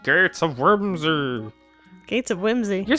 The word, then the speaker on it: Gates of Whimsy: helping me with the GTS of worser sure but what on Earth is a Gates of Whimsy you're still saying it wrong Gates of Whimsy they're unusual objects found